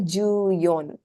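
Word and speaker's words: 十四: Yon is the pronunciation here. Okay. Juyon.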